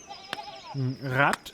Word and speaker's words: Rad: Rad is advice, and rad wheel are pronounced the same.